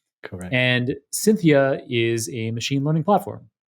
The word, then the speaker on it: Syntheia: the company is called cynthia it's it's spelt wonderfully so it sounds like the woman's name cynthia but it's spelt like synthetic uh s-y-n-t-h-e-i-a cynthia and cynthia is a machine learning